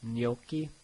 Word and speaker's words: gnocchi: And then gn makes a nya sound, like in gnocchi.